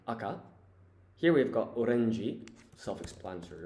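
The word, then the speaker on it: 赤: And so the pronunciation here is shiro and aka.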